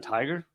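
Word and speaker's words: Tigar: it really tiger John tiger I mean that's a cool it's t-i-g-a-r is his name but if you pronounce a tiger that's pretty cool anyway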